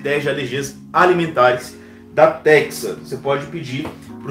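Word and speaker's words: Tecsa: de alergia ambiental da Texa Laboratórios, esses dois testes, tá? Pode fazer esses dois testes, tem vídeo aqui no canal. Texa se escreve T-E-C-S-A, T de tartaruga, E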